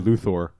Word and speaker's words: Luthor: guy I think was the first guy to pronounce his name correctly in the Superman series he said Luthor I guess mr.